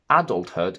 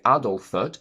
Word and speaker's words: adulthood: Th is pronounced as t, or sometimes with a glottal stop instead of t, in compound words. Adulthood is a combination of adult and hood, so we don't say adulthood, but adulthood.